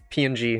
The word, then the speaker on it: PNG: ping, it's PNG. Have you ever heard somebody pronounce PNG like ping?